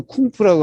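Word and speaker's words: 功夫: 사실은 그 쿵푸라고 하는 게 바로 이 공부의 중국식 발음이에요. 공부. 그래요. 공부를 쿵푸라고 그래요.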